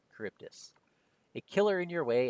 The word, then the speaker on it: Charybdis: That is Scylla and Charybdis. Charybdis.